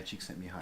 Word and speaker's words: Csikszentmihalyi: pronounce his first name Mihaly Csikszentmihalyi knee high cheek send me home yeah me high Csikszentmihalyi Canadian researcher I believe